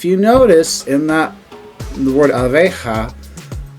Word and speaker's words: abeja: If you notice in the word abeja, the 2 A's have an ah sound and the E has an A sound.